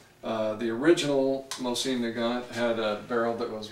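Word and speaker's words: Mosin-Nagant: it was the first car version of the mine neant it's spelled m o s i n n a g n t uh the original mine nant had a barrel that was roughly this much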